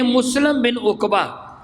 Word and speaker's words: مسلم بن عقبہ: بیعت توڑ دی، مختصر یہ۔ چنانچہ یزید نے مسلم بن عقبہ، میں نام صحیح آپ کو بتانے کے لیے اس کی سپیلنگ بھیجے، میم سین لام اور میم کیا بنتا ہے؟